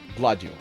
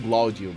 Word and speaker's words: Gladio: Gladio. I'm always saying Glaudio, but that's me just pronouncing it wrong.